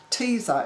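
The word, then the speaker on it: Teezer: Teaser is spelt T-E-E-Z-E-R, more like tweezer.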